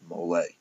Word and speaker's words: mole: And yes, I am aware that that Mexican sauce is pronounced mole.